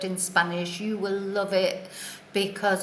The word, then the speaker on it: hay: little word is I so it's pronounced I but it is spelt H a Y so what does it